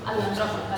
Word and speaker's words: Atlantropa: Això m'has dit com es pronuncia? Atlantropa. Atlantropa, sí que es pronuncia així.